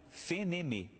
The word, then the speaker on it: FNM: O F vira Fê, o N vira Nê e o M vira Mê. Daí, Fenemê.